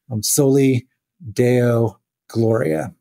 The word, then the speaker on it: soli Deo gloria: And I'm probably going to butcher the Latin, but I think it's pronounced soli deo gloria.